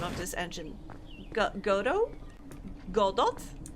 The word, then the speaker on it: Godot: Godot? Godot? In Polish it's just Godot. Godot? I think? Blender Arc Real! Someday. Someday, maybe. Yes! Godot.